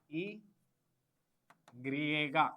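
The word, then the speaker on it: i griega: Y is E griega. E griega.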